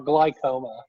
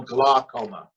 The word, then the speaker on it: glaucoma: pronunciation of this word is it glaucoma or glycoma no glaucoma okay there you go stephen